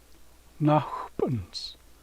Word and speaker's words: Nakhpunz: Nakhpunz. Accent goes on the first syllable.